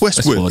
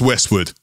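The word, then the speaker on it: Westward: westwood west ward it's westwood it's pronounced westwood but it's spelt w-a-r-d um yeah not west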